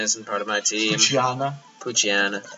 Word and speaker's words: Poochyena: Poochyena. That's how you pronounce it, his name. I think it's like Poochyena.